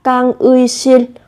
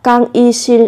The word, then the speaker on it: 강의실: Các bạn có thể phát âm là 강의실 hoặc 강의실 đều được.